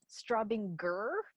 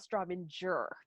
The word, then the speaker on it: Straubinger: went oh straubinger so pro tip straubinger hard g gur not strawbender yes yes so you